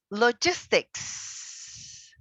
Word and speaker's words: logistics: Next word is logistics. Logistics. Logistics. 3, 2, 1. All together. Logistics. Logistic. Awesome. Remember, logistics, all right? S at the end.